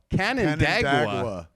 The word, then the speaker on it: Canandaigua: Canandaigua.